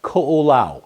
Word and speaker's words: Ko'olau: very very small um coola is the way you pronounce that um started by a